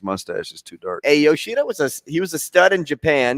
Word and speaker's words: Yoshida: Yoshida is how you pronounce.